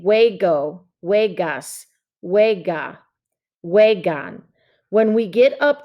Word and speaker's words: juego: little bit about pronunciation so j-u-e-g is like the saying way okay so we're saying hue go vegas when we get